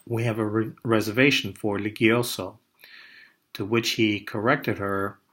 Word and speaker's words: Ligioso: saying, "Oh yes, Ligioso," pronouncing our name with a soft G. She responded, "No, Ligioso," with a hard G. He insisted it should be pronounced with a soft G, noting that it was a nice Italian name.